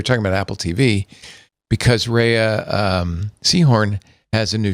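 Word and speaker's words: Rhea: and Better Call Saul and I called her Ria Seahhorn. And I got an email from somebody who said it's pronounced Rehea.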